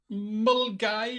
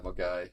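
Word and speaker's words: Milngavie: English word when when it's clearly not Mulgai. Yeah, that's the one. Good old Velgi. Yes. Yeah. Mulgai.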